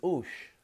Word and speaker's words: os: So, OS is ush. Os.